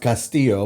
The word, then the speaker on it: Castillo: It's technically pronounced Castillo with the two L's are yeah.